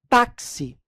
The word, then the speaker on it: táxi: pronúncia mas olha só táxi esse x aqui pessoal em táxi ele tem ao mesmo tempo o som de k s ta-se se você pronunciar